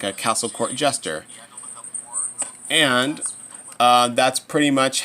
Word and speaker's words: Jest: oh it's just that but it's not it's actually jest but it actually sounds like it so it's like oh